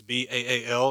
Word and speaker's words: Baal: It's B-A-A-L. It's actually in Hebrew pronounced Baal.